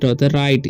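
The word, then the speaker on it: right: करके पढ़ेंगे जैसे मैं आ से र और आई का आई तो राई जी एच का साइलेंट हो जाएगा टी से राइट इसे पढ़ते है हम लोग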